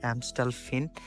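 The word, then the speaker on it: Amstelveen: জায়গাটা হচ্ছে এমস্টাল ফিনমস্টল যদিও ভি এর উচ্চারণ এখানে এফ করে এমস্টাল ফিন সো এই প্লেসটা অনেক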